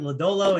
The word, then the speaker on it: Lodolo: Lodolo and Joey Votto.